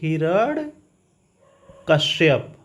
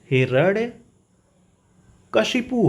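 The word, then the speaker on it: हिरण्यकशिपु: लोग बोलते क्या है हम लोग बोलते हैं हिरण कश्यप कश्यप बोलते हैं ना लेकिन ये अशुद्ध है आपसे कहे ना जब उच्चारण करना सीख जाएंगे तो आप शब्द लिख लेंगे वहां कर लेंगे वर्तनी सही होता क्या है हिरण कशि पू होता है ठीक हिरण कसिप होता है ठीक है ना हिरण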